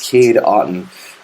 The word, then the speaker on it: Kade Otten: walk off touch thing I'm in Brady hits Kade Otten uh that's how you pronounce his name o-t-t-o-n one duck shot one